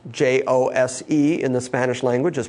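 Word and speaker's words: José: that we would pronounce J-O-S-E in the Spanish language is pronounced Jose, because the J and the H sounds move.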